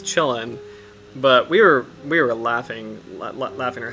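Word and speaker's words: Qilin: And I do think that the correct pronunciation is chillin', but we were laughing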